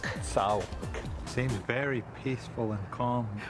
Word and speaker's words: T'Sou-ke: So this is Sauk, and the proper pronunciation again? Sauk. Sauk.